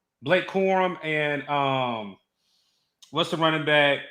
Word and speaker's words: Blake Corum: You got Blake Crum. How do you say his name? Blake Corum, and what's the running back?